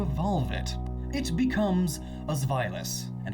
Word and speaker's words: Zweilous: And I sure hope I'm pronouncing that right, because boy, otherwise this comment section's going to be huge. But trust me, I looked it up, found like 40 different ways to pronounce it, and that one makes the most sense. Zweilous. It's German.